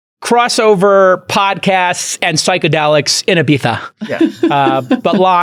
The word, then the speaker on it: Ibiza: Crossover podcasts and psychedelics in Ibiza. Yeah. But Lon, thank you guys for saying course. Ibiza. I appreciate it. Ibiza. It's the only way to know. Spanish pronunciation.